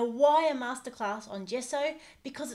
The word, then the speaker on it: gesso: using today this is a Montmartre one we pronounce it gesso could also pronounce gesso but I think we'll stick with gesso so